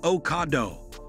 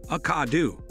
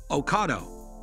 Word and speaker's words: Ocado: Here is what Ocado had to say, it's pronounced like avocado without the Ave, uh-cah-do, Ocado.